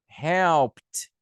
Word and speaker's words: helped: Com a letra P. Help. Como que você acha que vai ser a pronúncia? Helped. I helped. She helped. Eu estou exagerando, mas na hora ele é bem sutil, né?